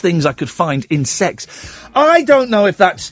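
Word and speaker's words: CeX: of people that um That kex Computer Exchange is pronounced as sex I'm being told by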